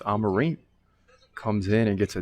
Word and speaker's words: Amorim: I was saying Amorim. It's Amarim.